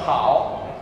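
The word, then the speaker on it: 好: Questo vuol dire bene, si pronuncia hao, e è una donna con un bambino, vuol dire bene.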